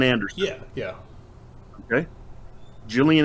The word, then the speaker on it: Gillian: Gillian Anderson. Yeah. Okay. Gillian Anderson starts with a G, but it's got the J sound, right?